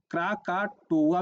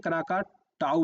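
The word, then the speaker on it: Krakatoa: अच्छा, क्रा क्राकाटोआ भी बोलते हैं, क्राकाटाऊ भी बोलते हैं। तो ये प्रोनाउंसिएशन में थोड़ा सा कई बार देखेंगे आपको ए यू भी लिखा रहेगा, कई बार ओ ए भी लिखा रहता है यहाँ पे।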